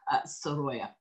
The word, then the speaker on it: Sorolla: the way and also how to pronounce his name which is as I said sya and he is depicted